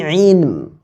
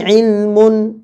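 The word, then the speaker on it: عِلْم: Ya, jangan sampai bacanya dengan ma laisa lakum bihi ilmun, ya, ma laisa lakum bihi. Nah, ini termasuk salah. Cara membaca seperti ini salah.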